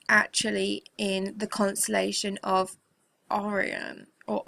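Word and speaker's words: Orion: red planet is actually in the constellation of Oran or Oran that's how you say it and also this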